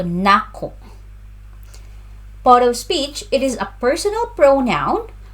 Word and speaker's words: Nako: Pronunciation, the stress is on the second syllable. So, Nako.